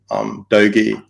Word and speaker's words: Doge: on Twitter cryptos, and those are Bitcoin, ETH, Doge, that's how you pronounce it, and SafeMoon.